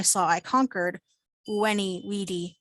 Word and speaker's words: vidi: i conquered when he weedy wiki think about if those words were written with a u at the beginning and it's actually the same sound pronounce a v like the letter u or w somebody had a question